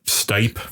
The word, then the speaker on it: Stipe: was from euclid oh stipe stipe is that how you pronounce it yeah okay stephen got knocked